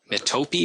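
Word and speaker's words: metope: between it called the metapee you may hear a different pronunciation of that I think um uh not Mito but uh mitopi or something like that is how I've heard it pronounced but the metapee um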